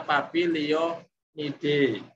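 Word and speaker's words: Papilionoideae: Misalnya Papilio, Nide, ada akhiran Oidae, cara membacanya Oide, Papilionide, itu berarti subfamily yang buahnya itu berbentuk polong.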